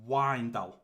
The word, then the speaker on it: Wijndal: Now, if I click into this, he did pronounce or spell out how I pronounce that left back, and it's Wijndal.